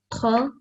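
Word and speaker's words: خاء: But remember, this is a thick sounding letter, so you have to round your mouth and produce a thick and heavy sound. Could you try that again? Kha, Yes.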